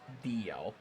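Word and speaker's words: Dalziel: It is the same reason that the name d a l z i e l is supposed to be pronounced dl.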